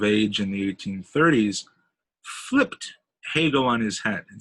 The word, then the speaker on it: Hegel: was the german philosopher hegel rhymes with bagel hegel was an idealist